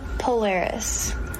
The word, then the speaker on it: Polaris: You pronounce her name Polaris.